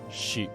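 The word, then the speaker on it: 四: That's because it's pronounced shi, which also means death in Japanese.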